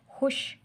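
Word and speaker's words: خوش: वाव लिखने में आएगा, बोलने में नहीं।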